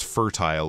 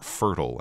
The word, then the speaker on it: fertile: versatile with this word you can say you have a choice of pronunciations there both would be correct but basically it just